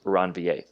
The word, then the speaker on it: Ranvier: right nodes of ranvier okay so this is pronounced ranvier at each node at each node of ranvier